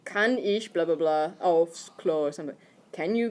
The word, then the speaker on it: aufs: If you say aus without the F in there, then you're asking to come out of the toilet.